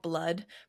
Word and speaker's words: Blud: We have hashtag, I don't think it's called hashtag blood. It's just called blood, but it's spelled hashtag BLUD.